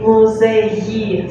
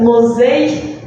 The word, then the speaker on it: музеї: If you have this letter here, the pronunciation is yi. So instead of muzей, you need to say музеї. So just a bit longer.